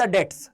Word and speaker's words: debts: हमारा पहला क्वेश्चन है वन who can't pay द डेट्स। अब पहली बात तो तुम इसे डेप्ट मत पढ़ना।